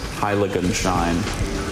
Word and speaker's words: Heiligenschein: Heiligenschein. Heiligenschein. Are there any alternate pronunciations?